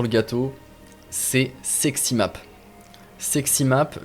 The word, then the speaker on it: Sexy Map: Sexy Map, comme ça se prononce, sexy, tout attaché avec map.